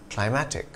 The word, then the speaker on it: climatic: Climatic and climactic. The latter has a hard C sound before the T. Climactic. The former does not. Climatic.